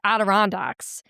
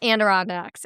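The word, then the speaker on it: Adirondacks: I'm from the Aderondex. So I'm living Say that word again. Aderondex. Aderondact. Aderondex. There's no N. It's not Anderondex.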